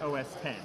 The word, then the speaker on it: OS X: system is OS X it's actually pronounced OS 10 but it just looks like an X and you know Steve